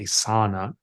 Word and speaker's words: sauna: thing I love most I found is a sauna or it's actually properly pronounced a sauna uh SAA I like to say Saun we